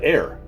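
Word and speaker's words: heir: from the other day the judge corrected him on the pronunciation of the word air h-e-i-r again you've heard me refer to it as air a whole bunch here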